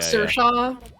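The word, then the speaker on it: Saoirse: like sir-shaw.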